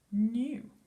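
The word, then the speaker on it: knew: What spelling word can you see in the word new? Well done if you spotted it was a silent letter word.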